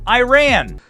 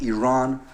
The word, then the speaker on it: Iran: Our country is named Iran, not Iran.